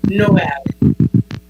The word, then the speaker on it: JKMN: It's Noel, as in Noel.